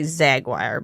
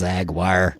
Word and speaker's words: Yzaguirre: Yeah, it's a Zaguire. We're going to use that Y silently, as it should be.